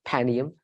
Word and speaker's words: Panium: ancient history Rafer and panium or panium depend I say panium I agree with you proper way to say it panium um so Rafer and